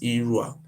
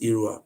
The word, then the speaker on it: Irua: you go to today they call it Ira it was a British who don't know how to pronounce the name they not call it irua the real name is